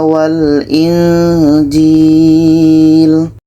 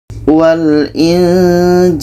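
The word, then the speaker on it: وَالْإِنجِيلَ: Ada nun mati bertemu ja ini ikhfa hakiki. Kita baca At Taurat wal Injil wal Injil wal Injil Ketika sebut huruf nun kita sudah merasakan huruf ja.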